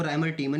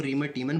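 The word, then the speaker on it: Reimer–Tiemann: मेन अभिक्रिया को समझाइए इसको राइमर टी मन भी बहुत लोग बोलते हैं इसको रिमर टी मन बोलते हैं और रिम टी मेन भी बोलते हैं ठीक है वो तो आपके उच्चारण के ऊपर है लेकिन राम टी मन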